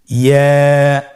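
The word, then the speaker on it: ي: ইয়া হরফটি উচ্চারণের ক্ষেত্রে বারিক হবে এবং এক আলিফ টেনে পড়তে হবে। ইয়া।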